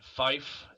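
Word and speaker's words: five: 5 is in Fife, Fife.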